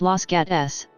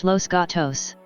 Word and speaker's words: Los Gatos: the town is located the pronunciation is often anglicized to slash lsts los gates although one also hears pronunciations truer to the original spanish slash losto's los gatos history overview the town's